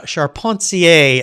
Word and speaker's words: Charpentier: the beginning here because when i look at that last name of yours it looks like carpenter to me but uh charpentier is the correct pronunciation right yes i as